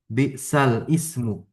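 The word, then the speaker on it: بئس الاسم: Di dalam Al-Quran di surah Al-Hujurat kan ada bi'sal ismu. Oke, karena tashil jadi bi'sal ismu bacanya.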